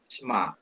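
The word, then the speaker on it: שמע: Pak dosen mau tanya, yang Shema Israel itu kan dibacanya Shema apa Shema gitu Pak? Sema. Shema gitu ya Pak? Ya, Sema. Karena dia pakai spa ya. Jadi dia ini spa ini kan pendek ya.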